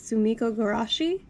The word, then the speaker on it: Sumikko Gurashi: different one this one I believe um the way you pronounce it is sumiko gurashi but it's just a